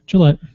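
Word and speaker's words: Jillette: Julie Gillette Gillette yep how do you say Gillette Gillette like the razor it's Julie put my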